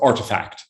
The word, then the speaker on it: RTFKT: Right, so Artifact is the way it's pronounced.